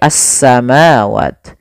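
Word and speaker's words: السَّمَاوَاتِ: Awalnya al samawat, karena dia diidghamkan menjadi as-samawat.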